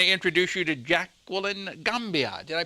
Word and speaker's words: Gamboa: And I want to introduce you to Jacqueline Gamboa. Did I pronounce it right? Gamboa.